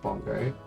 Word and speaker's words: Bengal: I bet bongo drums come from Bengal, as apparently it's pronounced according to Wikipedia. And natively it's pronounced bongo.